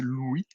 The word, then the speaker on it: Louis: écrit en rust euh Louis pilfold j'essaie de le prononcer à la française il s'appelle il faut prononcer Louis était était développeur rust